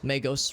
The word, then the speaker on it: magos: see another mad magos magos rather it's a hard G another Herald technomad servator